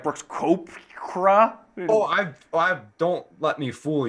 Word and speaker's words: Koepka: Is it Koepka? It's Koepka. It is Koepka. Most people, I believe, people are like Brooks Koepka.